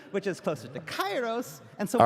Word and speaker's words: Kairos: the Greek heritage that this is actually pronounced closer to Kairos. Kairos. But we're using the ancient Greek pronunciation, which is closer to Kairos.